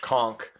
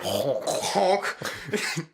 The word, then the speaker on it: conch: I'll pronounce it both ways for those of you that are like, it's pronounced this way. Yeah, we probably got some coastal listeners that are like, wow, it's actually conch. Yeah, it's actually honk.